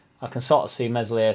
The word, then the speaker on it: Meslier: I can sort of see Meslier, Silent S being one of the only big players that sort of stays.